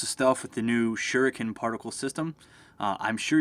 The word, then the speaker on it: Shuriken: stuff with the new Shuriken particle system. Uh, I'm sure you're going to hear me pronounce that like four or five different ways. I always say Shurroken, even though it's pronounced shuriken.